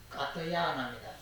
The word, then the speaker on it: 까트야나: 있다거나 없다거나 하는 양자는 까트야나에게, 이것은 이제 가전년이라고 하는 그 중국식의 이름이 가전년인데 인도식 발음은 까트야나입니다.